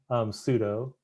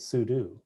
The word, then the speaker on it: sudo: Pseudo. But then I started pronouncing it Sudu because I think it's, you know, for me, it's short for super-user dude.